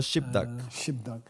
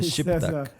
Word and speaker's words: gzhi bdag: Y es pronunciado Shibdak. Pronunciamos la B, Shibdak.